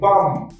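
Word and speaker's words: balm: শরীরের জন্য আচ্ছা পরেরটা কি বি এল এম বাম বাম বাম বি এল এম কি হয় বাম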